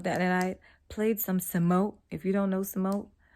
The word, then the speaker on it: Samoht: real name is thomas his stage name is thomas backwards samoa so give me some more sumo the t is silent um so i'm gonna